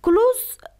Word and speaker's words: close: Close یکی به حیث صفت است و یکی به حیث فعل است که یکی ز تلفظ می کنیم. مثل close که به معنای به حیث فعل می یعنی بسته کردن می باشه و به حیث صفت که به معنای نزدیک یا صمیمی باشه او را سین تلفظ میکنم. میگم close. My close friend name is Marco.